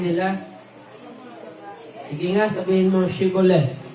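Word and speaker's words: Shibboleth: Kapag sumagot ng hindi, pinapasabi nila ang salitang Shibolet. Kung hindi ito mabigkas ng tama, at sa halip ay sinasabing Sibolet, papatayin nila ito sa may tawiran ng ilog Jordan.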